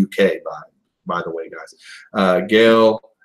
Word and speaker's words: Gail: Gail, which he keeps calling her Gil.